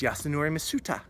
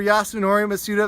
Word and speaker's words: Yasunori Mitsuda: less of that stuff it's Yasunori Mitsuda I don't know if I said his name right I do know that I said his name right that's exactly how you say it if you mispronounce